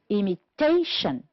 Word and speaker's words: imitation: The first one, first syllable, practical, honest, and product. On the second syllable, we have the word conclusion, direct, unethical, produce. The words that are stressed on the third syllable are imitation, economical. And the word, we have only one, which is stressed on the fourth syllable, is responsibility. Good.